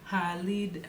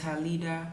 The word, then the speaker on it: Halida: used to call me Halid. My name is Halida. In Nigeria, the accent is her, ha. So people used to call me Halida. Leader is leader, the way they pronounce it.